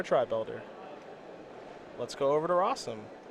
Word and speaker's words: Rosum: Let's go over to Rosum, which, as you know, rhymes with possum.